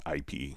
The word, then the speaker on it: YPE: Okay, so we see YPE says his name is pronounced IP.